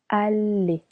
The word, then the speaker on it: aller: Usually, double L in French sounds y. In this case, we separated the verb in two syllables. Aller. The reason why the double L here doesn't sound y, but le.